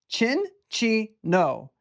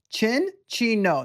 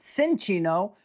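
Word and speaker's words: Cinccino: It is Chin-Chi-No. Chin-Chi-No. Not Sin-Chi-No. Chin-Chi-No.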